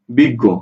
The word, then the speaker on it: বিজ্ঞ: বিগ, গ করে গো, বিজ্ঞ, অক্ষর দুইটা।